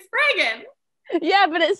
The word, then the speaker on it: Spraggan: It's Spraggan, like dragon. Didn't I say Spraggan?